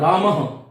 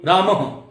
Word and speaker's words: रामः: तो ये देखिएगा, इसका उच्चारण होता है रामः। क्यों होता है? क्योंकि विसर्ग से पहले तक विसर्ग से पहले म है और म में क्या है? अ है, तो इसका उच्चारण हम कंठ से करेंगे और ह की ध्वनि आएगी रामः।